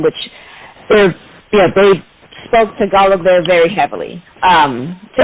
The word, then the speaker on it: Tagalog: cookie called Tagalongs it's basically look at that Tagalog like without the end but um yeah so